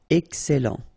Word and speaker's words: excellent: Excellent. Okay, you've got double L here, and then it will open the sound of your E here, and it will be E. Excellent. Excellent.